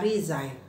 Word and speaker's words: resign: share dengan teman-teman supaya teman-teman tidak kiri lagi bacanya Oke Nah sekarang saya akan basah 10 kosakata dulu yang pertama adalah kata rizain nahiza ritual kata kerja teman-temannya artinya mengundurkan diri